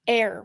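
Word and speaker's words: Aire: Jenner yeah and now his name is air with a silent E on the end air wolf no no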